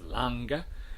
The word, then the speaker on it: long: the word uh long which is pronounced um as lange in some conservative northern dialects two things going on